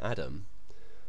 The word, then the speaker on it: atom: It's atom. But of course, since then, that hasn't stopped the spread of the pronunciation Adam for atom. In fact, pretty much all Americans pronounce it that way now.